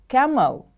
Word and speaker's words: camel: Camel, camel. The stress is on the first syllable.